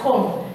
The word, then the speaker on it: comb: You don't pronounce it. You will say comb. Everybody comb, and it will be like this. You pronounce it as this, comb. This one don't say. This one dies. This one dies, and you say comb.